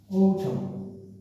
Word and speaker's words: autumn: Okay, autumn, not autumn but autumn, autumn, ও বাংলা অক্ষর ও, স্বরবর্ণ ও, autumn, autumn.